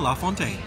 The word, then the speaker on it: La Fontaine: All right, my friends, and here we are seated at La Fontaine. I asked my server, and that's the official pronunciation of the restaurant name, so we're gonna go with that.